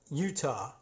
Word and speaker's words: Uintah: local geographical location, and you could pronounce it as written, but we don't. So I'm familiar with this. At any rate, we'll just call it, let's just say it's Utah Elementary School.